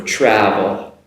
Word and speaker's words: travel: Compared with an sound for travel, travel. Now the TR at the front has the same pronunciation. It comes across as like a CHR, travel, travel, and trouble, okay?